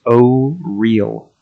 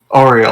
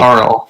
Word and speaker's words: Auril: name is supposed to be pronounced O-Real. Oriel. Okay. It looks like it's pronounced I think. Auril. But I keep pronouncing it Auril. Like, Ariel.